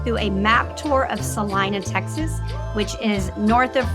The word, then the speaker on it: Celina: it is actually spelled Selena but we all pronounce it Salina so just know that coming in but it's